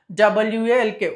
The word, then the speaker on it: walk: WALK, walk, L is silent letter.